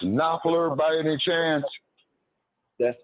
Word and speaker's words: Knopfler: Okay, would that be pronounced Knopfler by any chance? That's correct. Yes, that's correct. Okay. That's correct. Yes. All right, Knopfler is his name.